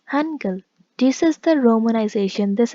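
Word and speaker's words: 한글: be written like this it can be written like h a n g u e l or e u okay but the pronunciation is angle this is the romanization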